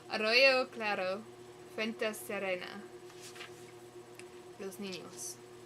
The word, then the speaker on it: arroyo: Arroyo, oh right, you roll your R's. Arroyo claro, fuente serena.